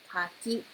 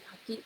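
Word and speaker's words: かき: So it's same, I think it pronounced the same, kaki. Kaki, yeah, that's right. The oyster is kaki. The fruit is kaki. So it has a different intonation, but it's the same word.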